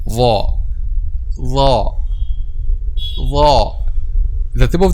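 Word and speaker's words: ظاء: So the tip of the tongue in this case touches the edge of upper two front incisors. Okay, the tip of the tongue touches the edge of upper two front incisors. Okay, this is the pronunciation of the letter ظا.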